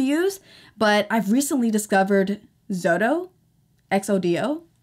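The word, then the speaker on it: Xodo: Write on PDF is what I used to use, but I've recently discovered Zodo, X-O-D-O, I think it's pronounced Zodo.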